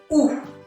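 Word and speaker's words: où: So in French, we pronounce it as ou. Ou. It's a U sound.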